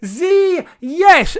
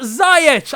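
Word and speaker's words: Ziyech: say mate frank listen this is how you pronounce the name z yes zee yes not zayed i was watching the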